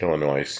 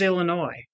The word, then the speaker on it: Illinois: People who pronounce the S in Illinois drive me nuts. Illinois. Yeah, Illinois. Where's the other one you hear like that? I thought it was Illinois.